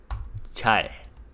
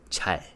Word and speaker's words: 잘: j sound as a consonant with the vowel 자. With the 받침 릴, and that becomes 잘.